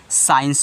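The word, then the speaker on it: science: एन सीई अब देखिए यहां पर सस के बाद सी आ रहा है यानी कि इस सी को क्या कहना है साइलेंट कहना है तो इसको क्या पढ़ोगे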